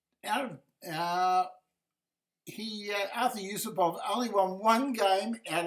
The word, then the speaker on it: Yusupov: Uh pronounced Artur Yusupov Yusupov.